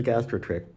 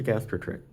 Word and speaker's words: gastrotrich: make me think that perhaps this is a gastro trick um and I still might be mispronouncing that it might be gastro trich with a CH at the end or possibly with a